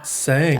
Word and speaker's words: Tsang: Sure, it's Tsang. It's like you sang a song. Tsang.